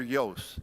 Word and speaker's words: Iooss: had a competition with Walter Yost, and it's spelled Iooss, I think. So nobody ever pronounced his name.